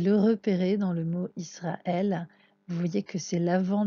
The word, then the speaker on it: ישראל: toujours de la droite c'est un aleph et ne se prononcent pas donc c'est une consonne qui nous soutient simplement la voyelle donc ça peut être à et y au ça peut être beaucoup de choses et on ne l'entend pas la deuxième lettre